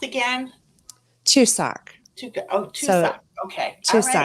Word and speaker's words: Chuseok: So, and what was it pronounced again? Chuseok.